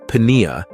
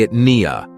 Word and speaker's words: pnea: it's related to pneumo it's spelled this kind of the same way with a p and you have that PN there so it's an odd spelling so it's actually it Nia so you might have